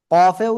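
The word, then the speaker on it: ق: কফেও 4 এলিফ টান হবে, হ্যাঁ। এই অক্ষরটা আমরা উচ্চারণ করব জিহ্বার গোড়া, গোড়া থেকে একটু আগে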